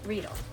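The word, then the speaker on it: Riedel: that from this is from Rell or technically pronounced rle rle fine Austrian stemware and when we want something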